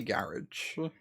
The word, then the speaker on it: garage: Uh I say garage. In fact, rhymes with dodge.